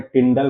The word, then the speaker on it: टिंडल: देखिए इसे सामान्य तौर पर उच्चारण में टिंडल प्रभाव कहा जाता है। लेकिन हमने यहां टिनडल प्रभाव लिखा है क्योंकि एनसीआरटी में इसी तरह लिखा गया है।